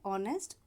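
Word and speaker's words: honest: ऑनेस्ट, ये H silent है तो ये वर्ड है ऑनेस्ट, ओ से शुरू हो रहा है, एन ऑनेस्ट मैन।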